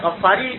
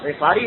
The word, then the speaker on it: غفاری: اس لیے کہ ان کا تعلق قریش کے قبیلے سے تھا جس کا نام ہے غفار۔ عام طور پر اردو میں غفاری مشہور ہے، لیکن عربی تلفظ اس کا غفاری ہے، کیونکہ قبیلہ بنی